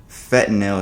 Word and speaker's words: fentanyl: Charges came down Wednesday against 28-year-old Cameron James Pettit, whom the feds allege supplied the rapper with counterfeit oxycodone pills that contained fentanyl.